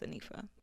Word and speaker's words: Anifa: So it's pronounced Hanifa in Arabic, but my name is Anifa.